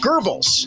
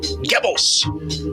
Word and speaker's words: Goebbels: And Bobby D, maybe you need to check with your acting coach on dialect and pronunciation, because it's actually pronounced Goebbels, not Goebbels.